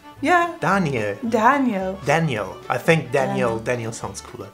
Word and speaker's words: Daniel: Potter sorry alright kid Daniel is in Germany just Danielle Danielle Danielle Danielle and it's not like it's not like Danielle but it's Danya it sounds like Danielle